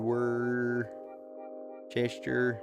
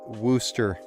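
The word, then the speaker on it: Worcester: chat tuna TV haha come on down to where Chester dude my more than welcome or sister seeing this in person nice oh it's pronounced Wooster gas is good yeah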